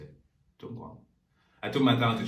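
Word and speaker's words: 中国: Zhongguang.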